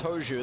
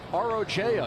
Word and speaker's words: Rojo: Lucas Hoju, that's how it's pronounced, but it's spelled R-O-J-O. You would think Rojo, but that's not it.